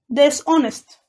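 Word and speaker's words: dishonest: اقول غير امين هتبقى ديس اونست نخلي بالنا الاش هنا سايلنت مش بتتنطق ف بنطق على طول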